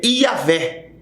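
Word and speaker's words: Yahweh: que vem o nome é yavé começa com com Y que trazendo para o português é Javé ou Jeová a letra J ela se pronuncia do hebraico com com i ela a pronúncia com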